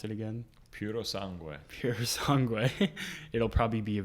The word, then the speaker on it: Purosangue: How do you pronounce it again? Purosangue.